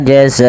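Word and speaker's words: جزاء: Pada lafal jaza, zanya kita panjangkan 2 harakat teman-teman. 2 harakat, kita panjangkan 4 harakat karena di sini ada bacaan namanya mad wajib muttasil, yaitu adanya mad yang disebabkan karena adanya hamzah yang terletak setelah huruf mad, dan dia wajib kita panjangkan 4 atau 5 harakat, 4 atau 5 harakat.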